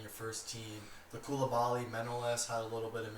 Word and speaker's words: Manolas: The Koulibaly, Manolas had a little bit of miscommunication.